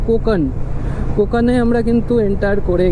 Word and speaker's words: Konkan: কোনকান বললাম বাট এর উচ্চারণ এখান থেকেই জানলাম যে কোকান।